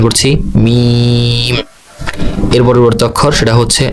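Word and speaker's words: ميم: এর পরবর্তী যে অক্ষর সেটার নাম হচ্ছে মিম। অনেক লম্বা টান হবে, 4 আলিফ। আমরা উচ্চারণ করছি মিম।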